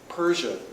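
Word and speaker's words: Perche: Colombia uh known as Persia is the way that's pronounced by the locals it's really spelled p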